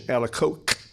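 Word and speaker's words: Alacoque: back at Margaret Mary alako which I understand is the proper French pronunciation alako qu is a c so thanks yeah thanks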